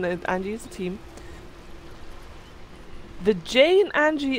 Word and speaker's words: Anji: Angie's team the Jane Angie is like a G sounds rather Angie Angie Angie okay Angie